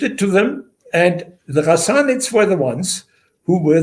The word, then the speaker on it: Ghassanids: It's like it's not a sound you have in the English language. Yeah. But you pronounce it way deep, like the French would pronounce their Ghassanids. Yeah, Ghassanids.